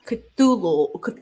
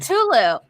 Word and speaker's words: Cthulhu: Now we're getting to Lovecraft's Cthulhu.